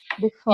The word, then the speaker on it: before: but it's before and before yeah so did did you write down that the first syllable was stressed maybe maybe it's my mistake i'll take it yeah it's it's the second one that's stressed because because i'm expert